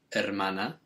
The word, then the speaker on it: hermana: version so sister is hermana remembering that the h is always silent in spanish and that means the